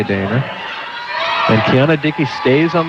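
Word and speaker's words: Danea: I assume the pronunciation is Dana, Scott. It's spelled D-A-N-E-A. I mean, you could pronounce it Dania. I would say Dana.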